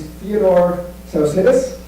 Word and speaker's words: Theodore Tsaousidis: It's a Greek name. His name's Theodore Tsaousidis.